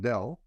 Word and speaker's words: Del: from is like Dell right and in Quebec a lot of people mispronounce Dell as Mabel already got